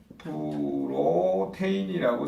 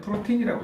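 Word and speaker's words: protein: 그 다음에 세 번째 프로테인이라고 쓰시고 읽을 때는 프로틴이라고 읽으셔야죠. 마지막에 인자도 여기서 만들어진 거예요.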